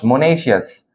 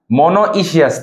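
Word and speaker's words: monoecious: উচ্চারণ হচ্ছে মনেশিয়াস, মনোইশিয়াস না, মনেশিয়াস।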